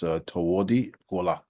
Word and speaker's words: Tawodi Gola: And in his language, it would be pronounced Tawodi Gola. Tawodi means hawk, and Gola means winter.